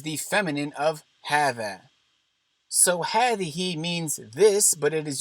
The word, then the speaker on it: هذه: Both هذا and هذه are pronounced as if there is an aleph after the ha.